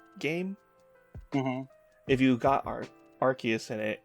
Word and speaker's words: Arceus: if you got our arceus in it it would say arceus or arseas it's like really wait